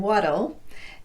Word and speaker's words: what'll: looks like this that'll the other two words are ital and waddle and they're pronounced the same way with a tapped T and an inserted schwa vowel before the L it'll waddle these words